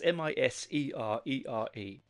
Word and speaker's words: Miserere: I am going to mispronounce that wrong. It's Miserere.